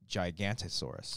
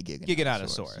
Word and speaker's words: Giganotosaurus: I saw one comment about the pronunciation. No, he was agreeing. I know, but in the past, they called it Gigantosaurus.